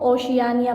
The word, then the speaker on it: ओशियानिया: ओशियानिया जो है ये सबसे लास्ट हमारे पास बरआज़म है, इसको ओशियानिया पढ़ते हैं. ओके, प्रोनाउंसिएशन इसकी.